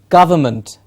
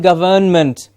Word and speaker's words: government: and say it correctly it is government government most of the students when they see the word start saying government yes because of the word govern in it of course if it's